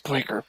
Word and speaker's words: Spraker: Also, that's pronounced Spraker.